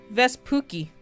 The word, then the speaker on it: Vespucci: Let me see if I can try to pronounce his name. Amerigo Vespucci.